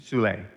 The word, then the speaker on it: Soule: Could you remind me of his last name, the pronunciation? Soule, S-O-U-L-E with a...